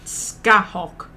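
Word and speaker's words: Scáthach: And it's an Irish name, so the one that I go with was the person who sounded the most Irish that I found, who pronounced it Scahawk. But it's spelt like Scathaach.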